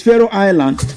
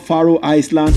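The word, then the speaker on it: Faroe Island: So it's Pharaoh Island, not Faroh Iceland or Faroh Eastand or Pharaoh Eastland. It's Pharaoh Island. Are you there with me? That is the proper pronunciation.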